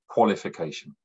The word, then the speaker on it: qualification: The first one is O, spelt with the letter A. A usually spells the sound A, but in this word it spells the sound O, qualification.